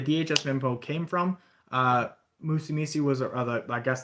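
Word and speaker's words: Musumeci: the uh court decision musumi i guess that's how you pronounce it it's m u s m-u-s-u-m-e-c-i musumesi v uh united states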